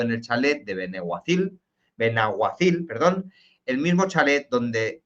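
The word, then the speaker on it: Benaguasil: en el chalet de Benahuacil. Perdona, siempre lo digo Beniguacil. Me disculpáis los valencianos por pronunciarlo mal, me perdonáis.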